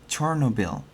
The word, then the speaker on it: Chernobyl: recall the historical event the word Chernobyl which Ukrainian pronounced as chernobil is the very word